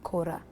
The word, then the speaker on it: Cora: So Cora in Kinyarwanda is pronounced Kora, as in to work.